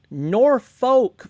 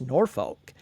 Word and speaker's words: Norfolk: Norfolk, Virginia is not pronounced Norfolk. It's pronounced like you're saying a bad word.